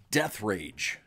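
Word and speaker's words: Deatherage: So his name is Brock Death Rage. What? That is how forever his name will be pronounced.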